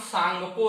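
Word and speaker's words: Tsangpo: और इस सांगपो जब चाइना में रहता ही है तो इसका नाम सांगपो रहता है, टी साइलेंट होता है भाई।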